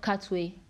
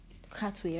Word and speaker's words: Katwe: Queen of Katwe. Katwe, right? Yeah, Katwe. That's it. Yeah, Queen of Katwe. That's the pronunciation, I think.